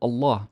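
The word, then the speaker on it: الله: of mispronouncing it and miss the velarization aspect of it.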